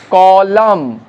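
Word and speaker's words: column: আবার দেখো কোনো কোনো ওয়ার্ডে ন মানে এন, এনটা উচ্চারিত হচ্ছে না, যেমন অটাম, এখানে নয়ের উচ্চারণ নেই, কলাম, এনের উচ্চারণ নেই, ড্যাম, এনের উচ্চারণ নেই, হাইম, এখানেও এনের উচ্চারণ নেই।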